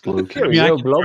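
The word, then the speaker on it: Blokees: 2026, the year of Blockies, baby. What the? I think it's pronounced Blokies. Yeah, I think you're right. It's Blokies.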